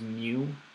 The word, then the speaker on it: mu: here is called mu it's pronounced mu like the Pokemon I think there's a